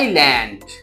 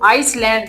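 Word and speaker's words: island: Item ठीक है आई आइलैंड इसको आइसलैंड नहीं पढ़ना। ठीक है? एस साइलेंट है।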